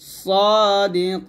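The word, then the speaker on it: صادقين: সদ মোটা করবেন, সা বলবেন না, সাদিকিন।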